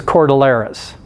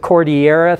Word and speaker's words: cordillera: scale mountain systems those are referred to as chordal eras and a lot of people pronounce it Cordillera thinking it's it's from Mexico and Spanish and